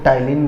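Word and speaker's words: ptyalin: अब salivary amylase को टाइलिन भी बोलते हैं, पी साइलेंट हो जाता है, टाइलिन एंजाइम।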